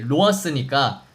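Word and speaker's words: ראש: 로아 씨가 이제 그 머리라는 뜻인데 이게 발음이 로아스니까 로스 로스 하다가 러시아가 된 거예요.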